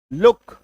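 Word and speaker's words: look: आई बात समझ में कि अगर किसी शब्द में डबल ओ के बाद के आ जाए डबल ओ के बाद के आ जाए तो ऐसे शब्दों में के का उच्चारण यानी कि डबल ओ का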